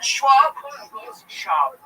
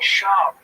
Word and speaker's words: Schwab: He's doing the podcast with Brendan Schwab. Don't say Schwab. I'm saying it wrong. Yes, it's Brendan Shab.